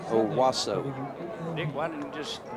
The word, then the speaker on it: Owosso: I mean, Justin Rosenbaum, but Justin Rosenbaum is, I'll have to probably spell this, is from OWOSSO, Michigan. So I would say Owasso.